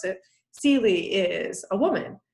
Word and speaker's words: Celie: novel the color purple it's not just that celie and that's how you're supposed to pronounce it celie is a woman it's also that she's black